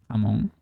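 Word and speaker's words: jamón: It is pronounced Hamon like in to be to pronounce it in English. It would be easier like that.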